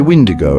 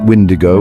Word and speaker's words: Wendigo: Some say Wendigo, emphasizing the W sound. Others pronounce it Wendigo with a hard G at the end.